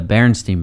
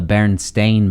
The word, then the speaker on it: Berenstain: a cartoon bears okay it's called the the berenstein bears oh yeah yeah it's actually called the berenstain bears s-t-e-i-n and um the what most people